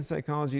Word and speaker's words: psychology: The P in psychology is silent because the word is derived from the Greek Okay, but they could